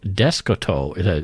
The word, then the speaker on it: Descoteaux: So Descoteau, it's spelled Descoteaux. Celeste Descoteau.